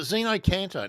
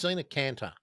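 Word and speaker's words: xeno-canto: Um, or is it Xeno Caner? No, it's Zeno Caner.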